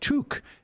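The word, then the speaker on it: toque: toke oh about oh from toke pronounced tuk is what canadians call beanies you're practically bilingual now and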